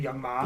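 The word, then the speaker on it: Young M.A: you're going to throw young ma i don't even know who young man is young ma is it young mom yeah well then why is it m.a that's just how it's pronounced okay that makes no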